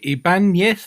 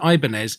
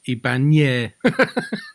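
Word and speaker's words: Ibáñez: Yeah, I just know Ibanez because of the guitars, and that's how I know how to pronounce it because of the guitars. But that's where it's unusual. That's where it's unusual because it isn't Ibanez. It's got an enye, which is a ny sound, so it's Ibanez.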